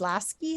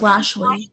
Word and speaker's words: Lashley: Ms. Lasky, is that right? Miss Lashley.